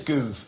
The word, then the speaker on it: Gove: It's Gove, as in move, movement. It's pronounced Gove.